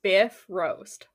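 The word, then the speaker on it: Bifröst: mythology for smart people buy Frost pronounced roughly Biff roast the Biff roast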